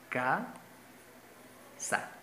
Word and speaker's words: casa: Si la mayor fuerza de voz fuese en la última sílaba, se dijese casa.